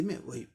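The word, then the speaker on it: movie: और ओ का ये ऊ, लॉन्ग ऊ, जैसे दीर्घ ऊ कहते हैं ना हिंदी में, वही ऊ साउंड आएगा। मूव, इस पर स्ट्रेस है, इसलिए थोड़ा जोर दे के बोलना है, मूवी, मूवी, मूवी, मूवी, है ना।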